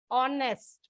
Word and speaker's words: honest: Y sound comes but here H is silent so you get honest o sound and sound so that